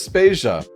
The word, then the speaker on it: Spacia: Vader and I'm Spacia were brought to you by anonymous dinosaur and rhymes with Asia it's time to appreciate